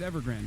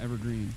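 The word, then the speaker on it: Evergrande: No, it's Ever Grand. I said it right. It's not Evergreen.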